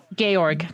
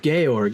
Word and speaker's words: Georg: how's this name pronounced it's not George it's it's gay org gay org yes uh specifically him